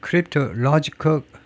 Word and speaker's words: cryptologic: National cryptologic IC로 끝나는다는 그 앞음제의 엑센트가 있으니까 로직입니다. 그래서 여기다 세컨 쓰고 여기다 primary 면크립ic 이렇게 발음하겠죠.